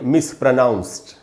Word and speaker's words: mispronounced: एंड में जो डी है उसको ट पढ़ेंगे, ड नहीं, यानी इसको हमको पढ़ना चाहिए मिसप्रोनाउंस्ड। मिसप्रोनाउंस्ड नहीं बोलना है, मिसप्रोनाउंस्ड।